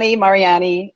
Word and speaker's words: Mariani: Because it looks like martini to me. It's the fucking text. It's Mariani. It just depends if you say it with a little bit of an accent. I say Mariani.